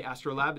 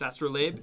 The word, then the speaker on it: astrolabe: lot of people say astrolabe it's astrolabe it's named after the navigation tool yes nautical navigation tool